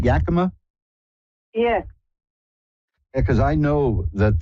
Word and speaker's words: Yakima: with Reverend Elliot hi Elliot hi did I pronounce that right Yakama yeah because I know that the great stunt